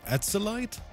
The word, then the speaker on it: Acolyte: Is it ACOLYTE? Acolyte? That's acolyte. Wait, you pronounce it with a K actually? Acolyte? Yeah, it's we're going straight in with the hard C right there.